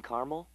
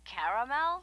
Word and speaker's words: caramel: I'd like it in caramel. Oh, the caramel? Yeah, that's what I said, Tina. Actually, you said caramel when it's pronounced caramel.